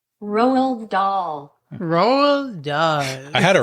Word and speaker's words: Roald Dahl: So Roald Dahl, yeah.